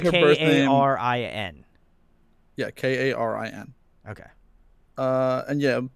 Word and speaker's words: Karin: So it's like K-A-R-I-N. Yeah, K-A-R-I-N. Okay. And yeah, basically, in Korean, it's pronounced like Karin.